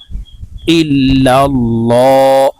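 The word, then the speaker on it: إلا الله: উচ্চারণ করতে হবে কারণ আল্লাহ শব্দের আগের হরফে জবর অথবা পেশ হইলে লামকে ল অর্থাৎ মোটা করে পড়িতে হয় তাই এখানে দেখুন আল্লাহ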